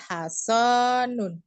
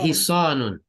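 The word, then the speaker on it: حصان: ahada hasanun. Nah, ini bacanya hisonun.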